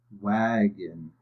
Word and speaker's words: wagon: And over here, the O is also closed in, but it's making a different vowel sound. Wagon. It's making a short I sound.